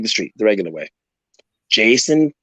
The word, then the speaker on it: Jayson: So you type in my name, Jayson, not Jason, Jayson, phonetically correct, Jayson. Why? Because there's a Y in it.